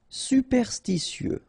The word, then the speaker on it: superstitieux: Superstitieux, okay, so final X not pronounced. Superstitieux.